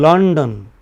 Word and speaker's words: London: In London, lon maybe easily about 6 700 nanoseconds. But don maybe under 200.